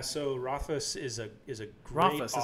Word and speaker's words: Rothfuss: So Rothfuss is a great Rothfuss. That's how you pronounce it? Patrick Rothfuss. Rothfuss, yeah, great author.